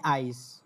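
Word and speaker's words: Eis: Deutsch হচ্ছে এ ই, তখন এটার উচ্চারণ হবে আই, মানে আইস।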